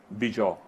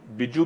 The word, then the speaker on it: Bijow: वो आदमी देखता है, उसका नाम है बिजौ। अच्छा, अब उसको बिज्जू भी कहते हैं बाज लोग, लेकिन स्पेलिंग उसके BIJOW।